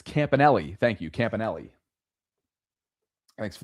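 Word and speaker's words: Campanile: And West says, "It's Campanelli." Thank you Campanelli. Thanks for the pronunciation guide there in real time.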